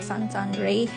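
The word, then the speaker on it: Saint-André: So karon mga laagta, mga tutas sa Saint Andre. So kaning Saint Andre Cathedral or Sant Andre. So mao na sila ang pagka-pronounce diri Sant Andre.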